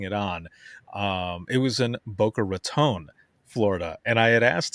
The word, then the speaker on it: Boca Raton: Yeah, he's like, that is not the way you say it. It's Boca Raton, not Raton.